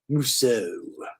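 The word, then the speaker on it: Musseau: I took a couple of years of French in high school. I know how to say my EAUs. Musso.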